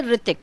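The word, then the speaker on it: Hrithik: H से ऋतिक. ऋतिक बोलते हैं R से ऋतिक, बट लिखते ऋतिक की स्पेलिंग है H से. H is silent in ऋतिक, so you'll write ऋतिक.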